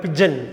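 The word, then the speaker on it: pigeon: பிஜிஎன்னு சொல்லக்கூடாது, பிஜன். இந்த பாருங்கள், பிஜிஎன்னா அப்படியே எடுத்து கூட்டி அப்படியெல்லாம் படிக்க முடியாது. பிஜன், பிஐஜிஇஓஎன், பிஜன். பிஜிஎன் கிடையாது, பிஐஜிஇஓஎன், பிஜன். புரிஞ்சிருக்குன்னு நினைக்கிறேன்.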